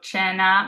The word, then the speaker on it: cena: So cena means dinner. We have a C followed by an E here, which makes it a CH sound, cena.